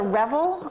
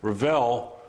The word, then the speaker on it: Revell: Now this is a Revel, R-E-V, is that the name? I wanted to show a couple different manufacturers. Okay. Revell is how they pronounce that.